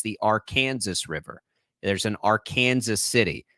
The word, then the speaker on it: Arkansas River: Kansas it's not the Arkansas River it's the Arkansas River there's an Arkansas city it's very real it is pronounced our Kansas in this state that'll you'll you'll win